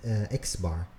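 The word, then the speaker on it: x̄: calculate the mean so the mean is denoted as an X with a it's pronounced x-bar to calculate the mean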